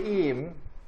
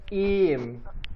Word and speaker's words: iyiyim: Yeah, you can just say iyiyim. Like Okay. you make the Y sound longer, like iyiyim.